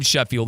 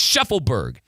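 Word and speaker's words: Shaffelburg: I keep calling him Sheffield. It's Sheffleberg.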